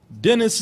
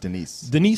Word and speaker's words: Denis: Denis Villeneuve. I think it's pronounced Denise. Denis Villeneuve.